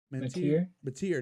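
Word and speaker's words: Mateer: Mantier.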